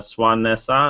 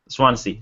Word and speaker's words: Swansea: Surprise victory for a Brexit in Swanessa I think it's pronounced Swansea sorry my bad which was expected to